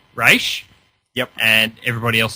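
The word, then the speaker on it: Ra's: actually made a comment about our pronunciation of Raz or Raish. He said, you guys need to make up your mind. And I'm like, well, then Raish, because it's the correct pronunciation.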